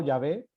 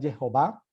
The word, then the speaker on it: Jehová: Pronuncio Sí, Jehová, se podría pronunciar Jehová o Yahvé. sí. Creo que la pronunciación más adecuada es Jehová, más que Yahvé o más que Jehová.